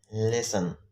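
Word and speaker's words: listen: د ټي ځینې وخت له اس څخه وروسته نه تلفظ کیږي. اگزامپل نیسلې، تسلې، لیسن. دې کې ټي سایلنټ دی.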